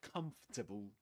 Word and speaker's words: comfortable: A bit more comfortable. Comfortable. Comfortable. Yeah, just three syllables.